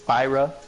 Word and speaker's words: Spyro: were Alex you said it wrong it's it's Spyro Spyro oh Spyro the Dragon regardless see I was